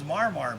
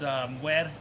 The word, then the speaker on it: mwarmwar: But I thought it was mwarmwar, but you kind of schooled me on that. That's not how it's said. No, it's pronounced mwer.